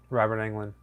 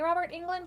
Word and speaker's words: Robert Englund: Robert Englund. See, I always say Robert England, but then I'm thinking I got his first name wrong because I'm thinking it's like Bob or something.